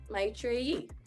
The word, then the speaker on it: Maitreyi: Without an accent, Maitreyi. It's just rolling the R, right?